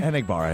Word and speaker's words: Enagbare: Enagbare, yeah, there you go.